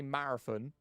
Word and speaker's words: marathon: I'm just saying like a lot of people when I say marathon, I've already seen two messages in chat with someone saying marathon with an F.